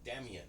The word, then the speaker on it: Damien: He goes, Damien, and I go, okay, so it's Damien. He goes, no, can I ask you to pronounce it Damien?